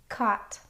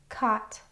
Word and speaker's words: caught: Now, you'll notice that caught rhymes with bought in the words above, but it has a little bit of a different spelling. It's spelled a u g instead of o u g.